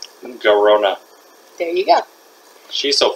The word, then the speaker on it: Garona: I can't pronounce her name. Garona.